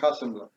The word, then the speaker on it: Hasselblad: utilizar su máquina Hasselblad, no sé cómo se pronuncia en alemán, la cámara, José. Está bien, Hasselblad.